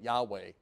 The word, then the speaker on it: Yahweh: have said it but no we say it Yahweh now if you say Jesus since Jesus is one with Yahweh you're not going far